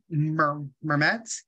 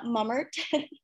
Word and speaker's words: Mummert: I'm going to call on Student Trustee Mermet. I apologize if I butchered that as well. Hello, that's okay. No, it's Mummert.